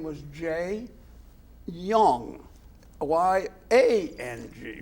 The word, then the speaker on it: Yang: His name was Jianyu Yang, Y-A-N-G, right? Yes, yes. But you pronounce it? Pronounced as Y-O-U-N-G. Y-O-U-N-G. Yeah. Yes, and that's my language. Yes. Y-A-N-G, but pronounced as Yang.